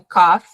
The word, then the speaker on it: cough: Cough, por mais que tenha um O, o GH ali, o som é cough, é um F, igual quando a gente vê na turma da Mônica o Cebolinha tossindo lá, cough, cough, cough, exatamente essa pronúncia.